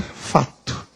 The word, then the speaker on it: facto: gente fez o outro facto A Taís tá então este se é mudo ele desapareceu aqui nós vamos dizer fato foi por isso que